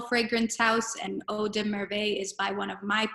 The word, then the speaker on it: Merveilles: be Hermes, Eau de, and I'm going to spell it, Merveilles.